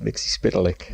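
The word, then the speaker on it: Mxyzptlk: it said differently but the majority of them follow of mix lick spit lick on on this week's Supergirl he's pronounced mixes podalic let's see spit like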